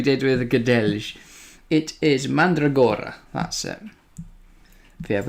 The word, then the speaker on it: Mandragora: It is Mandragora, that's it. But yeah, if we get his name wrong once or twice tonight, I would not be surprised.